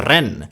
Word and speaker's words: Len: itu enggak ada ya jadi Len itu dibaca Ren karena dia reinkarnasi menjadi